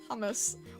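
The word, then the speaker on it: Humus: Hummus. What? How would you end up picking that name? La Pluma, thank you. Is it, wait, how do you say hummus? Is it pronounced like the food?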